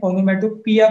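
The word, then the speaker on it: onomatopoeia: पढ़ते समय ओनोमेटोपिया पढ़ा जाता है, लिखते समय ओनोमेटोपोइया।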